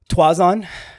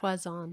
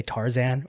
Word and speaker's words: Twazon: What's your last name? Twazon. Twazon. But more often than not, people will say Tarzan or something like that.